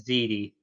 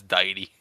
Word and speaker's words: Deity: I've always pronounced it as Didi. Yeah, no, it's Deity.